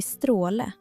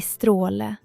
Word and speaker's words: stråle: Å i stråle är en lång, djup vokal som låter lite som O i det engelska ordet more.